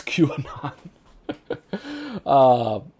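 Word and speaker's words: QAnon: fade john thank you for doing that it's q anon anyway let's i'm going to get back to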